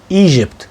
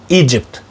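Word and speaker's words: Egypt: ما اسمهاش ايجيبت ولكن ايجيبت. ايجيبت حط كده ده ج ايجيبت.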